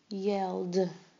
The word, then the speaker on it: yelled: And yelled. Yelled. Yelled. But it just had the D sound.